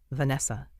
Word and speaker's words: Vanessa: he pronounced her name Vanessa he said with the accent on the V making it sound strong and exotic and now I